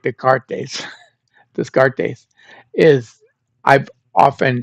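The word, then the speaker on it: Descartes: Um I got garbage from a uh an online listener because Renee Renee Deart whose name spelled like Dartes. Disgart is I've often said his name is Dartes.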